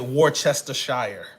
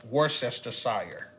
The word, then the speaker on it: Worcestershire: is worcestershire Worcestershire or is it warchester Shire hi Chester War worst war Chester warchester Worcestershire now but it's Worcestershire I dab this song